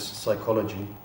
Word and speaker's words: psychology: And obviously there is psychology spelled with a P pronounced with an S.